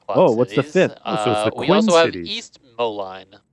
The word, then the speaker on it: Moline: We also have East Moline. I hope I'm pronouncing that right. Molen. Moline. Molen. You know, tomato. I think it's like the song Molen.